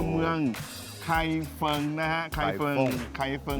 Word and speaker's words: Kaifeng: ไคร เฟิง นะ ฮะ ใคร เฟิง ใคร เฟิ เดี๋ยว คน ไทย เรา ออก เสียง เฟิง ไม่ ได้ ก็ จะ ออก เสียง ว่า ฟง นะ ฮะ เดี๋ยว จะ เดิน